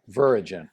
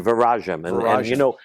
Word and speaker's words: Viragem: It's a word it's Latin based, it's a Portuguese word.